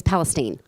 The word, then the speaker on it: Palestine: how many people say Palestine not many it's Palestine if they're not from there they say it